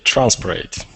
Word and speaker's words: Transparate: transparate or transparent and I would say transparate so transparate is good I got one point